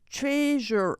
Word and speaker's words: treasurer: Maybe the first syllables. Secretary. You're right. It's hard even. Treasurer. As a So speaker, first first syllable for both.